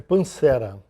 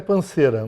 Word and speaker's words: Pansera: É Pancera. Pancera. O correto é Panceira, mas o carioca colocou um acento no E e começou a falar Pancera.